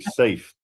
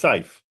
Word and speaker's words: Saif: You always say it like safe. Are you good? Is there anything else? Saif. No. There's nothing else. It's Saif.